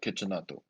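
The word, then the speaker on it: Cecchinato: His name is literally pronounced like you're saying kitchen nato. It's put it all together. It's like kitchenato, Okay.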